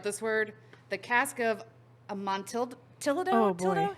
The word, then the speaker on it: Amontillado: That's because it has the same ending as tortilla. Amontillado. That's what we're going to say. The Cask of Amontillado. That sounds way better. So we're just going to go with that.